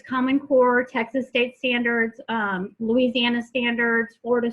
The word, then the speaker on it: TEKS: They call their standards the Texas Essential Knowledge and Skills. Some people say TEX, some people say TEKS. I say TEX because phonetically that makes more sense to me.